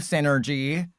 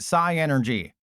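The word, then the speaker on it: Psynergy: Sun the first time, I always pronounced it Psy Energy. I don't know why. I don't know why I couldn't make the connection that, it's pronounced Synergy.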